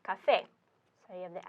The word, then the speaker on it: café: So the normal pronunciation would be café, but it's not pronounced café, it's pronounced café.